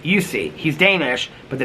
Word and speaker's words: Jussi: Um, Adrian said, "Okay, Jussi Adler Olsen pronounces his first name kind of like Jussi.